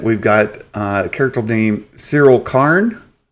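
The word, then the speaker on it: Cassian: and was like, Cyril, I'm eating Cyril. Yeah, Cyril, that's the name. Cyril.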